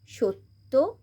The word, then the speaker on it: সত্য: নাট্য, আবার এখানে দয় হস্যুর সাথে যেহেতু জফলা আছে তাই দটাকে আমরা দুবার উচ্চারণ করব। বিদ্যুৎ, সেমভাবেই সত্য, অদ্য।